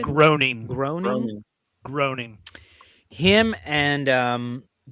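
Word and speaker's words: Groening: yo I think macaroni graining graining is how you say it groaning groaning groaning him and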